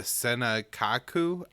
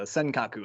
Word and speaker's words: Senkaku: sent to defend uh the senekaku islands will die pronounce that right and uh tell us a little bit more about what's going on here yeah you're close the senkaku islands um but yeah as